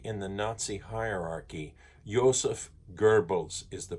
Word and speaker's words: Goebbels: Joseph Goebbels is the pronunciation of it.